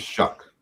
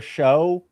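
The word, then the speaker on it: Shough: You know, Shuck Lawrence, his name's pronounced Shuck, which is a terrible decision on his part. You're a quarterback. You have the chance to be named Tyler Show.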